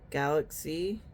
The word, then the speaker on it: Glazzi: I think that was from Lashy Box, and this was the brand called Galaxy. It's spelled Glazzi, and it's the glitter star eyeshadow.